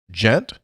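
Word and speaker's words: Ghent: Gent, pronounced as gent? I'd personally always referred to it as gent with a hard G, Gent.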